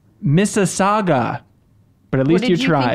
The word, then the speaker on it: Mississauga: failed I also met Miller fail it is pronounced Mississauga but at least you try it was mississagua Mississauga pronounced Toronto Toronto got like Wayzata yeah